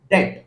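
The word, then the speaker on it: debt: That is called डेट। B silent, that is called डेट।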